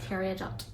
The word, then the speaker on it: Peridot: Peridot.